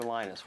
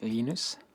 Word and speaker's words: Linus: Linus or Linus? What's the exact your preferred pronunciation? Um, when I speak Swedish, it's Linus. When I speak Finnish, it's Linus. When I speak English, it's Linus.